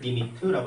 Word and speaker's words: lim: 그러니까는 LIM이라고 쓰고 쟤를 리미트라고 읽을 겁니다.